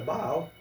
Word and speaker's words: Baal: se você não sabe como se pronuncia senhor em aramaico é Baal Baal significa senhor ou